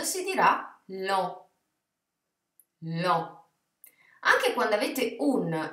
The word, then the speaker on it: lent: Perciò la parola impero in francese si leggerà empire, empire, mentre EN si legge en, quindi lento si dirà lent, lent.